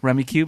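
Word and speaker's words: Rummikub: And then we played Rummy Cub, which is like Cube? Rummy Cube. Is that what it's pronounced? Yep. Well, I've been saying it wrong even when I yelled it after I was. I've always heard Rummy Cub.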